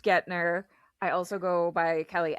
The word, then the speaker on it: Guentner: It's pronounced Gner.